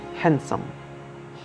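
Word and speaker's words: handsome: हैंडसम, इसको हैंडसम नहीं बोलेंगे, इसको बोलेंगे डी साइलेंट रहेगा, हैंडसम।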